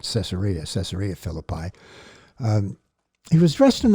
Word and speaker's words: Caesarea: road to caesarea Philippi the Hebrew pronunciation is quesaria but since most people use the Greek most people are familiar with the Greek pronunciation we'll use that caesarea caesarea Philippi he was dressed